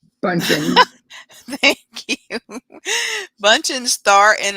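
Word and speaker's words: Bündchen: Bunchen.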